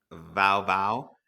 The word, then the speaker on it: wau: Vow vow. Yes, so kind of spelled like WAU, but the W in German makes a V sound.